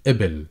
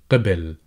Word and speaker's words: قِبِل: in the verb here, qabil, qabil. However, in dialect, people tend to replace the qaf with an easier sound, which is called the glottal stop, and pronunciation-wise, it is